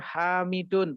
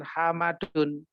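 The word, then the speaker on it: حامِدٌ: g o foto tulisan seperti dibacanya Hamidun bukan hal Madun ya gitu nama-nama Ini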